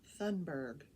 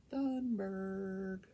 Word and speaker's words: Thunberg: about greta fenberg i think that's how it's pronounced thunberg thunberg and if you don't know who she is